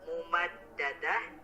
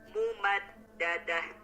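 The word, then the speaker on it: ممددة: Tadi kata mumaddadah itu lebih disempurnakan lagi Pak. Fi amadim mumaddadah. Kalau tadi maaf Bapak bacanya mumaddadah. Nah harusnya mumaddadah.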